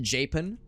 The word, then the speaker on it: Japan: I think there's a it's spelled Japan but it's pronounced japen honest to good hand on my heart I think it's pronounced japen or japen I don't think you